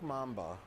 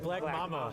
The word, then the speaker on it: Mamba: and Mamba, like the snake. Is that what I said? You said Black Mama. That was a mispronunciation, not a. I didn't know the right answer. Okay, yeah, Mamba.